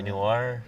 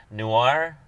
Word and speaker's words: noir: I also have a hard time saying noir. It's the LA Noir. Say it again. Noir. Noir. Noir. Noir. Noir. You have to kind of say it like that.